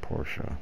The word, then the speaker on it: Porsche: school that is the question H th some Porsche wheels on it and yes I know it's pronounced Porsche I just get lazy don't want to say